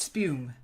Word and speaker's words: spume: Spume. Spume. Okay, yes. Yeah. Then I was right. Yeah, good. It's a U sound.